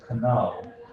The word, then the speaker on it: know: In medieval English, it would have said pronounced as kano. Kano, the K is not silent. It's only in modern English the K is silent, but it's still written, and it's still there.